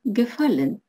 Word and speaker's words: gefallen: Добавим приставку, получим gefallen, что значит «нравится». И в этих глаголах корневая гласная «а» меняется на «а» умлаут. Примеры. Die Bücher gefallen mir. Книги мне нравятся. Gefallen – ударение. На корень слова.